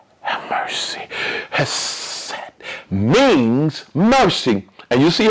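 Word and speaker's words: חסד: And it's pronounced not phonetically like we would say in the West, Hesed, Hesed. But it is literally pronounced this way, Hesed. You see, you could barely hear me say, that's it.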